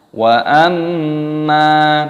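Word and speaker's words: وَأَمَّا: Wa amma, mimnya didengungkan, ada gunnah, mim tasdid dibaca gunnah berdengung dan dipanjangkan mimnya. Wa amma man khaffat, man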